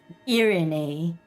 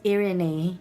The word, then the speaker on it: Irene: Irene. Oh, my name is Irene, not Irene.